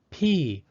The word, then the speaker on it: pies: Pies is spelled P-I-E-S. Because I and E are both vowels, the second vowel, E, is silent, and the first vowel, I, takes the long I sound.